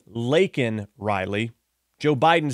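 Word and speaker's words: Laken: killed by an illegal so instead of saying Lin Riley Joe Biden says Lincoln Riley Lincoln Riley Lincoln Riley so Lincoln Riley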